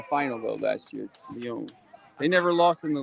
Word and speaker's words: Lyon: Lyon.